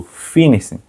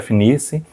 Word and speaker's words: FNIRSI: A gente recebeu aqui o nosso Finice HRM10, ou FNIC, de acordo com o que você gosta de pronunciar.